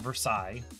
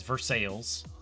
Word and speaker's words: Versailles: Versailles, Kentucky, where Paige is from, instead of Versailles, it's Versailles. And there's Louisville. And, like, 10 miles away is Shelbyville, which is pronounced Ville, but Louisville is not pronounced Ville, it's pronounced Vol, because America.